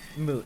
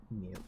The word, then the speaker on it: moot: Moot, not mute, by the way.